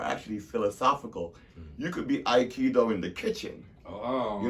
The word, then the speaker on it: Aikido: Aikido. Okay, you said it right. I'm just saying it, making sure the people hear it. Aikido.